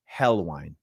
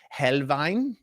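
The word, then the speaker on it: Helnwein: An American might say Gotfrieded Helwine, but I think it's Helvine.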